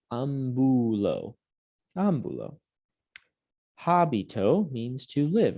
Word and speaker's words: ambulo: Ambulo, I walk. Notice it's not ambulo. There's that accent mark on the A to tell us where to put the stress of the word, where to put the emphasis when we're pronouncing it.